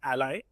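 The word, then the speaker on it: a11y: And lastly uh a lot of you may have seen this term A11 Y thrown out around it's actually pronounced ally.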